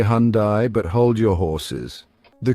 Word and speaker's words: Hyundai: Just remember, it's Hyundai, like Sunday or Monday.